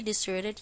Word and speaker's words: desert: it really looks like where is the stress in this word on the first Sol since it is a place the last one I'll